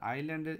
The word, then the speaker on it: island: হচ্ছে একটা দ্বীপ তা আইল্যান্ডের এস আই এস এসটা এখানে উজ্জ থাকবে এস এর উচ্চারণটা হবে না আই এস তোমরা পড়বে